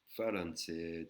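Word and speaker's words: ฝรั่งเศส: une personne falanet excusez-moi falanet qui veut dire fran Cer en deux syllabes vous pouvez voir les deux syllabes et et voyelle longue hein falan.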